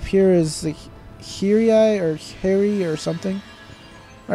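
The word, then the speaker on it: Haerii: this is the i the only way i know how to pronounce it is harry it's h-a-e-r-i-i harry archaeopolis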